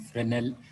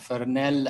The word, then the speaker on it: Fresnel: is parabolic trough and fresnel collectors by the way some people read here fernell as fresnel the s is silent is not pronounced um and also we